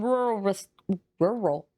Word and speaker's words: rural: The Beast of Bray Road is in rural. That's such a hard word to say as a Southerner. Rural. It's in rural Wisconsin. We don't pronounce the second R. It's just rural.